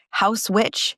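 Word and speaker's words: Haus Witch: Next up is House Witch. It's spelled H A U S witch.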